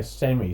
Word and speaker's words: Same: and this is a, I've heard people say Sammy, so I think it's pronounced Sammy. I've always pronounced it Same.